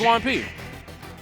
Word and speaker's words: Juanpi: Is it Juanpi, like Juan and P?